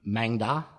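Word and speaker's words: Maeng Da: What is the difference between I've got them, how do you pronounce that? Mangda.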